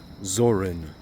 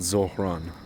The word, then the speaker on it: Zorin: Zorin, not Zoran, but Zorin. Valentin Zorin. I'll pronounce it correctly.